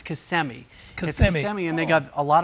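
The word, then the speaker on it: Kissimmee: uh central part of the State uh it's pronounced CMI but if if you're a tourist you say kissm they don't know but it's kmii and they got a lot of ranches and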